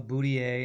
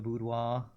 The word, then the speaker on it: boudoir: A lot of people call a boudoir a boudier instead of a boudoir.